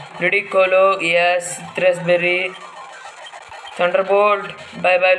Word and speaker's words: Ludicolo: I know it's pronounced Ludicolo.